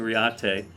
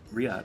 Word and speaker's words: Reate: to really pronounce RI I've been calling riat uh but um it's not an Italian knife it's a Chinese knife so it's just Riot I believe but it's it's one